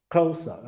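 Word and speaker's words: Xhosa: Coases or whatever. How you say it? Tulsa. Kosa. Okay. Kosa. Tulsa. Kosa. Okay. Kosa. Sorry for me.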